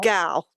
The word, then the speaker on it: Gal: So the illustrator, um Susan Gal, Gal, that's how you pronounce her last name.